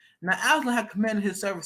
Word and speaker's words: Absalom: Pronunciation. It is Absalom.